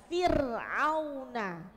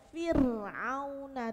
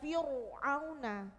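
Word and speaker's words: فرعون: Coba perhatikan, fir'auna. Fir, roknya sukun didahului harokat kasro. Jadi bacanya Fir'auna tipis, bukan Fir'auna, bukan tebal, tapi Fir'auna.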